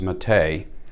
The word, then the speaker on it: Mete: on the table today we have the canik mate and according to the website it is pronounced mate and this is an evolution of the tp9